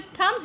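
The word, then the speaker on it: thumb: थम अर्थ थ्रो अच्छा य जो थम है इसका बी साइलेंट होता है ठीक है थम सो यहां पर हमारा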